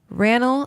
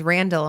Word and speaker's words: Raonall: more importantly which is it was Randall no there's no D and now every time someone says hi my name is Randall I'm like you're saying it wrong but more importantly Washington